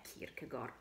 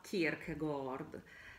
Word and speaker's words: Kierkegaard: programma di quarta è kierkegor o per pronunciarlo Diciamo in maniera più corretta Kirk Gold si dovrebbe dire così perché è un autore Danese uno tra i primi